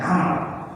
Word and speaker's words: Amr: Nah ini ada dalam kalimat kalau kata Umar diawali dengan alif berarti bacanya Amr.